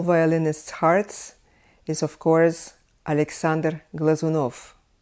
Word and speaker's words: Alexander Glazunov: dear to all violinists hearts is of course Alexander Glazunov Alexander Glazunov next I would name a very famous russian